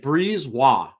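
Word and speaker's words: Brisebois: silent B in it? It's crazy. It's like Brisbois. Like, so I had to write it out as Breeze and then ROY, because in my mind that's Patrick Waugh.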